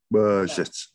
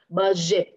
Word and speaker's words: budget: Budget. Yes, very good. Budget. Budget. Yes, yes. Yes. Ở đây là âm y à. Jet. Jet. Jet. Budget. Yes. Budget.